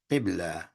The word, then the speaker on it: qibla: Now, Muslims are taught to turn themselves in the direction of a qibla. And if you don't know these words, just pronounce them to yourself at home as I pronounce them.